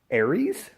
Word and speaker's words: Ares: It's called Aries. Not the way you think it's spelled. It's kind of spelled like R's.